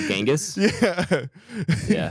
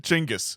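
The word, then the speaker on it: Chinggis: me like talking about genas chingis as I've learned is actually pronounced oh okay yeah they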